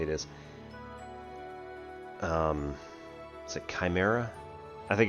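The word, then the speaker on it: Cymera: Um, is it Chimera? I think it's I think it's Chimera, but it's spelled weird.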